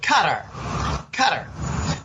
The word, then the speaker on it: Qatar: And if you don't think the incidents going on with Qatar, actually, the Arabs pronounce it Qatar. But I call it Qatar like you do.